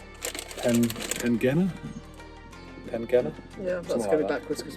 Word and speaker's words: Tintagel: From like a traditional pasty making company called Tintagel.